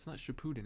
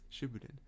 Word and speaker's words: Shippuden: so what shipping in some people say Shippuden and I can't get over that I'm like it's not Shippuden it's sooo booted which I could be